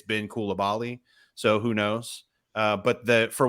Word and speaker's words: Koulibaly: professional soccer, it's been Koulibaly. So who knows? But for what it's worth, the French are pronouncing it Kalabali, which is different for me.